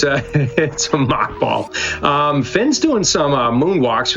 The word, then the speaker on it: mock ball: It's actually M-O-C-K because it mocks your run speed. Even though it would make more sense if it was M-A-C-H, mock is in some